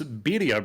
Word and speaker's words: birria: There is a food truck here in Norfolk called Los Birria Bros.